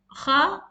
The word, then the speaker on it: خ: And let's see the makharaj of kha. Kha, it's the kha is from the much upper part of your throat, and it's the touching of your root of your tongue with the kha, the hard part of your throat. So that's the nearest part, and this is a new letter, and kha is a heavy letter.